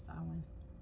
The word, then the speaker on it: Samhain: First one is the Spirit of Samhain. I see the spelling on it. It is actually pronounced Samhain.